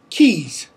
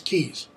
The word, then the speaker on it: Caius: of cambridge england university keys i know how in the world do you get keys from that it looks like gaius and caius but it's in cambridge it's keys um so they the